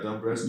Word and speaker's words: Dombresky: Is that how do you pronounce it? Yeah, Dombresky. Dombresky.